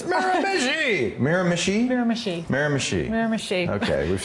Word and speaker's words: Miramichi: a lot of problems as well yeah it's mira mishi i'm told miranda are you from new brunswick